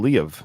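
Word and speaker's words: Liev: the last one either Ed pronounced his name Le of by the way like he actually gave it two syllables really yeah in his book so maybe that is how it's pronounced I've always said leave shriber too I think it's a I think it's LI or Le of he actually says it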